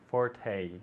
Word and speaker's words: forte: Forte Forte exactly okay it's got the long e at the end Forte one more time